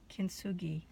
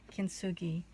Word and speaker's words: kintsugi: and I wrote it down so I wouldn't mispronounce it and it's called kintsugi hopefully I'm not massacring that kintsugi and the idea is when I when a